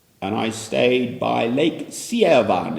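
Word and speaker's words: Sevan: is the capital and I stayed by Lake Sian it's pronounced Seeva and by as it happens a monastery on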